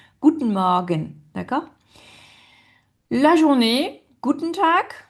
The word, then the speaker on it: Guten Morgen: Guten Morgen. Et donc, en fait, les deux E, enfin, on les prononce pas. Guten Morgen.